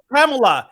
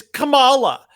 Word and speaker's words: Kamala: It's not Kamala, it's Kamala.